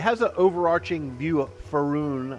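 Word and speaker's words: Faerûn: So it has an overarching view of Faerun, I think is how you pronounce it, for the game world.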